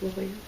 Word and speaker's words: La Jolla: You think it's La Jolla? Yeah. Get a city. Okay. That's how you say it. That's how they spell it.